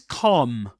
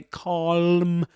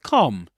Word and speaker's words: calm: This is calm. Calm. Okay, calm. You don't pronounce the the L consonant. You don't say calm, but calm.